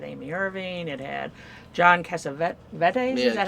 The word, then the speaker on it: Cassavetes: I mean, it had Kirk Douglas, it had Amy Irving, it had John Cassavetes. Is that how it's pronounced? Cassavetes.